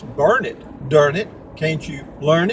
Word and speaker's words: Burnet: uh it's spelled b-u-r-n-e-t normally you would pronounce that Burnett however here if you go to the Chamber of Commerce they will tell you that it's burned during it can't you